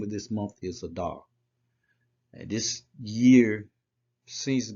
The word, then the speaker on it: Adar: This is a olive, a dalet, and a resh. If you put those together, it's Adar. Okay, that's how you pronounce it, Adar.